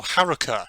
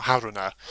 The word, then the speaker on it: Haruka: Oh, Haruka, not Haruna.